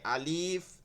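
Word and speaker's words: ألف: বা তা তা ভাই আলিফ আলিফ টান হবে না আলিফ টান হবে না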